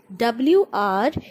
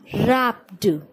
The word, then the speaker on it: wrapped: So before she could cry, Mummy, W-R-A-P-P-E-D, wrapped. The word is wrapped. W is silent.